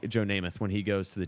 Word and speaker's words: Joe Namath: I mean, you could say also Joe Naismith. I'm pretty sure that's how I pronounce that right. It's just Joe sad how Joe Namath when he goes to the Jets and wins